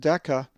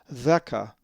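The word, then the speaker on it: δέκα: If you said deca, you would be close, but the delta is soft, or the dheltah is soft, and as the accent is over the epsilon, it is theca, theca.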